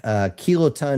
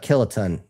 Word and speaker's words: kiloton: And Guardian Sage here is like kiloton, not kiloton.